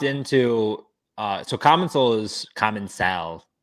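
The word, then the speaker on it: Commencal: I asked like how do you actually pronounce this and they said like it's common cell which they like it's an accent I don't have it so like I'm never gonna be able to say it right common cell I say common sell I've always said common Soul okay TR you love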